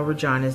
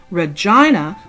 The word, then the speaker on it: Regina: Contrary to popular belief, the pronunciation Regina was an acceptable pronunciation of the word, which today is often pronounced Regina in other contexts.